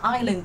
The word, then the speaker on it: island: income đều là E chỉ có Island đọc là i Các bạn nhớ là mình đọc là Island chứ không phải là ising đâu nhá Island câu số 8